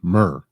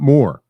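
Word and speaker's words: Muur: Doug Demania Mer Nation. Mer. M-U-U-R. Mer. M-U-U-R, right? Not more. Mer.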